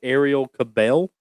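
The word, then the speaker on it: Arielle Kebbel: talking about uh, Bella Skinner, which would be Ariel Cabel.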